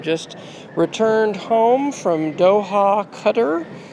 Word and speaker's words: Qatar: returned home from Doha cutter I have been I think inaccurately saying Qatar and I've said that so much that it kind of got ingrained in my head but it is properly pronounced cutter and if you are